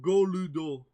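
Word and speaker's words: ゴルド: But we know it's gold, but like it's because you know in Japanese it's pronounced Goludo. Yeah, exactly.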